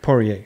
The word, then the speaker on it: Poirier: Yeah, Dustin Poirier. Poirier.